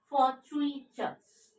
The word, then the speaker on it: fortuitous: Next word is fortuitous. Fortuitous. Okay? Two hyphen, that means 3-syllable trisyllable. For tweeters. How to pronounce it? F, fa, not F, fa. O sound, colon, that means long vowel sound.